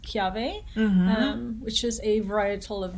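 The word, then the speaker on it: kiawe: as well um it's kiave smoked barbecue w is actually pronounced v in hawaiian so it's k-i-a-w-e but it's pronounced chiave which is a varietal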